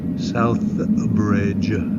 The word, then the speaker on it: Southbridge: we'll be in Southbridge Southbridge there's a th in there that I don't have to pronounce but but anyhow what